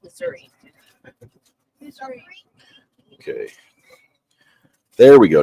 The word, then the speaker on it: Missouri: Missouri, but it's pronounced Missouri.